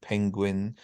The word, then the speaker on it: penguin: So suede and suave, and then lots of them with G, like penguin, distinguish, and linguist.